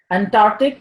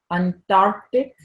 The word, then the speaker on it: Antarctic: mispronounced affidavit affidavit affidavit Antarctic just like Arctic Antarctic Antarctic what about this one